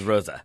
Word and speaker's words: Rose: just Marvel pulls up Rosa okay called out Rose not Marco Rose Rosa yeah you know every single syllable must be pronounced in German you know you can't